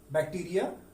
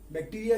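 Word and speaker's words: bacteria: बैक्टीरिया, fungi, protozoa, algae and virus. मैं एक बार फिर से प्रोनाउंसिएशन कर रहा हूं इसका।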